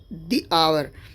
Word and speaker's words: hour: दी होगा, जैसे द आवर। ठीक है, अब यहाँ पर देखो ध्यान से, ये जो आवर हम लिखते हैं HOUR लिखते हैं, यानी कि ये वर्ड तो H है, लेकिन क्योंकि ये वर्ड